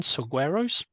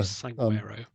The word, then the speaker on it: saguaro: collect resources and store them in, excuse my pronunciation, saguaros. Does that mean much to you? Yeah. Saguaro.